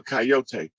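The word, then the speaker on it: Kiot: i o t uh coyote that's an indigenous name that's actually the tribe whose totem is the coyote and it's it's um it's spelt that way and it sounds like coyote or coyote but it's a tribe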